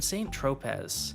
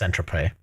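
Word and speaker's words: Saint-Tropez: For example, in 2010, Joe Law was pictured partying with Paris Hilton in St. Tropz. And in 2019, the Sun Okay, first of all, it's pronounced Centrope.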